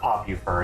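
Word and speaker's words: popufur: the popular fur well pop you fur is how it's pronounced but yeah yeah that's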